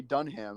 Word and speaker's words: Dunham: Yeah, I don't like how you say Dunham. It's Dunham, but all right. right. But it's spelled like Dunham.